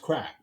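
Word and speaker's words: craic: Yeah, but it's pronounced crack. Yeah, it is pronounced crack, which is a good time.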